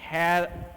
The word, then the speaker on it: heir: Some words begin with a silent H, so we use N before them. He is an heir to the throne. Heir to the throne. तो यहाँ पे E से heir बोल रहे हैं ना, इसलिए N यूज हुआ.